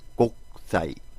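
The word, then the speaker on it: 国際: 쓸 때는 옥구상이지만 발음할 때는 옥상. 그리고 우리가 국제관계에서 국제 해주면 또 국제는 곡사이.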